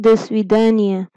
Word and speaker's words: до свидания: Pronounce it again, दो स्वीदानिया।